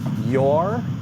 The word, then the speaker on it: Joar: Swedish dude named, let me know if I'm pronouncing this right, Joar, Joar, Joar?